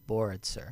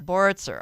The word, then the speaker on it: Boritzer: give it to me it's board sir board sir okay thank you and